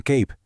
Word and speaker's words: cape: que tiene un superper y es que cambia por completo el sonido de la vocal que tiene justo antes, haciendo que suene más largo. Así, cap se convierte en cape. Kit pasa a ser kite.